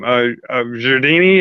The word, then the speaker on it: Jredini: Jredini, is that how it's pronounced? Yes, yes.